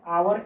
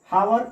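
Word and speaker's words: hour: An Italian come to सी मी और आवर एगो। यहाँ फिर देखिए एच साइलेंट है, लिख रहे हैं हावर और पढ़ रहे हैं आवर।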